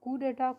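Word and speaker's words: coup: establish by means of कु डेटा कु spelling C ओ यू पी डी हा इसको क्या बोलेंगे हम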